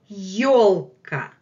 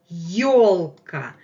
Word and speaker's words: ёлка: Our main word today is the word ёлка, ёлка, Christmas tree. And take a look how we spell it, how it's written in Russian. This is the vowel ё, ё, ё, ё, ёлка, ёлка, ёлка.